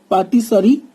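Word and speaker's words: pâtisserie: It is pronounced as patisserie, means pastry.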